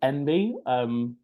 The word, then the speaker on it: enby: Another abbreviation you might come across with students is NB, but pronounced or written ENBY sometimes.